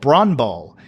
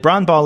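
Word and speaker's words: brännboll: which is one called bran ball and we get a little note here that bran ball is a Swedish version of baseball or softball pronounced like the name bran plus Bowl without the W it literally translates to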